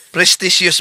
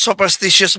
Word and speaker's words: superstitious: Prestitious belief. Oh ang ang layo ' po ba? Prestitious belief versus superstitious belief. Pamanhiin maling pagbigkas, maling pagbayan. Ang tamang termino sa English sopstitious belief. Hindi po presticious belief.